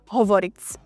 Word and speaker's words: hovoriť: So words like deti are pronounced dzeci, or verbs endings like hovoriť is pronounced hovoric.